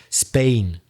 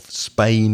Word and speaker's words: Spain: So yeah, the vowel sound of Spain is A, the same as in words like plane and rain and same and my name.